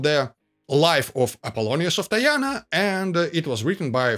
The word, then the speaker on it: Tyana: Okay, so who was Apollonius of Tyana, or Tiana? The letter is closer to the original pronunciation of the Greek city in Cappadocia.